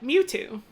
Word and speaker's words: Mewtwo: I've only ever heard it like emphasis on the Mew, like Mewtwo.